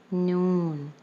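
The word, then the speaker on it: نون: Noon. Noon has the pronunciation of noon and it has the sound of like the alphabet N.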